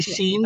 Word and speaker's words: Sean: This is how it pronounced? Correct, correct. Some say Yeah. scene Okay.